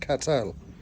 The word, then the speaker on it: Cottrell: It's actually pronounced Cattel.